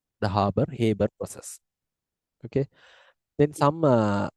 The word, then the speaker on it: Haber: as a ha process Haber some people pronounce it as a harbor process the harbor habber process okay then some